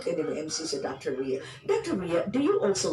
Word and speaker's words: Ria: Unsa man siya pronunciation sa imong name, Dr. Ria or Ria? Ria.